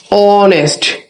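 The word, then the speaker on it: honest: উচ্চারণ যদি না হয় এই যদি সাইলেন্ট থাকে যেমন একটা এক্সাম্পল আমরা যদি বলি অনেস্ট দেখ এই আছে বাট এই কিন্তু আমরা একটা কনস কিন্তু এই কোন সাউন্ড হচ্ছে কিনা এইচ এর যদি সাউন্ড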